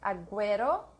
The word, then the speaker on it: agüero: if we pronounce the U between the letters G and E or I, it has a, I forgot, a symbol on top to show that we should pronounce it.